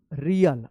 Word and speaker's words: real: अलग उच्चारण होता है, इसको पढ़ेंगे रील, क्या पढ़ेंगे, REEL रील, और इसको पढ़ेंगे REAL रियल।